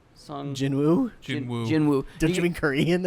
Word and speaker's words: Jinwoo: Jungwoo Sung. Jinwoo? Jinwoo.